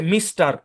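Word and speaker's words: Mr: এই শব্দটার উচ্চারণ হচ্ছে মিস্টার। মিস্টার বুঝেন? আমরা বলি না। এইযে মিস্টার এদিকে আসেন। বলি কিনা? তো মিস্টার আপনারা দেখবেন যে এই শব্দটাকে সংক্ষেপে এভাবে লেখা হয়। ঠিক কিনা? এম আর তারপর একটা ডট ভাই সবই পরিচিত শব্দ।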